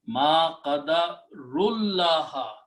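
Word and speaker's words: ما قدروا الله: So directly connect this ra to this lam. So it becomes ma qadarullaha. That is what the word is in the first three words are recited together. It speeds up your recitation if you just skip the sound of this waw, sound of this alif, and the sound of this alif.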